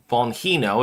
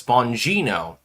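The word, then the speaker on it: Bongino: It's not Bonino, it's Bonino.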